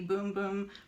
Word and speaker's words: Bum Bum: It smells like the Boom Boom cream. And I know it's spelled bum bum, but it's actually boom boom, just so you know.